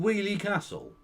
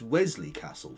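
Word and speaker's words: Weoley Castle: Where did you get an S in the name Wheelie Castle? To be fair, it is spelt a bit weird. I can understand an outsider calling it Woley Castle, because that's how it's spelt.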